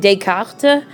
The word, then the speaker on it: Descartes: if you want to make sure that you pronounce it correctly. And Descartes, I do love my French pronunciation.